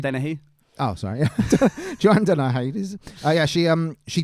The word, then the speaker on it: Dennehy: Joanne denied this, but it's pronounced Dennehy.